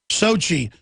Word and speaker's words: Sochi: that Russian town you think I'd know it Sochi Sochi turkey F-16 scrambled to foil Sochi hijack attempt AFP reports turkey scrambled a jet Friday to sh airliner from Ukraine after a Woodly hijacker on board to Sochi where the Winter Olympics opening ceremony was underway